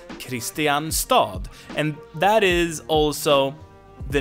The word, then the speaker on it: Kristianstad: No one says Kristianstad, but we spell it like this because that's the name.